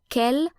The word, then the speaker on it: quel: But even though quel is spelled differently according to whether it's singular or plural, masculine or feminine, all forms of quel share the same pronunciation.